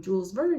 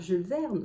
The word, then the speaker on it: Jules Verne: read a book by Jules Verne. Did you really understand that it's Jules Verne? Because I know a lot of you know him by the name Jules Verne and not Jules Verne.